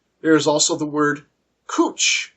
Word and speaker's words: cwtch: is also the word cooch cwtch pronounced cooch as in Uchi woi